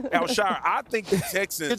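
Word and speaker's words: Al-Shaair: Azeez Al-Shazir. Al-Shazir had a phenomenal game. Al-Shire. Al-Shire. I said it wrong. Al-Shire.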